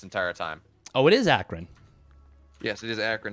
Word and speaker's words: Akron: And we're getting yelled at here because apparently we've been pronouncing Akron wrong this entire time. Oh, it is Akron.